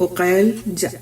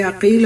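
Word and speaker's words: عقيل: उनके नाम तालिब अकी तालिब उकल ये अकील और उकैल दोनों तरह से प्रोनाउंस किया जाता है।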